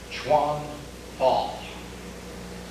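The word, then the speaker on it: 拳法: The Chinese then take a look at these characters, and they pronounce both of these characters Chuan Fa.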